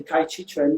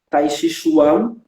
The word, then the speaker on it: Tai Chi Chuan: Então pode perceber que a pronúncia Tai Chi Chuan é muito francesa, porque o chinês fala Tai Chi Chuan, né? Tai Chi Chuan, em chinês, Tai Chi Chuan.